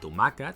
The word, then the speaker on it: tomàquet: For example: In "tomàquet", the stress is on "mà".